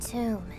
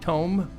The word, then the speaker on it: tome: A tomb. It's actually pronounced tome, like comb.